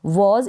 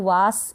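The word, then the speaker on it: was: तो ज बन जाएगा वज इसको वास या वास या वस नहीं बोलेंगे वाज का मतलब है था तो यहां पर आया ए और इस ए को हमने प्रोनाउंस किया ऑ नेक्स्ट है ये कॉफ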